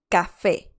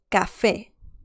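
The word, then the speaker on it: café: how this letter works let's see the pronunciation of this letter with vowels so that is quite interesting we can see here that the pronunciation is quite peculiar because the first one we can see this one right here okay okay and this one here as well ko ko and this one here but these two right here the pronunciation is so you need to remember that for sure now let's see a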